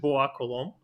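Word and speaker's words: Bois-Colombes: There should be S at the end of Colombe. Anyway, French people wouldn't pronounce it, so it's Bois Colombe.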